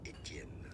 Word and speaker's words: Etienne: The channel in French it is said as Etienne.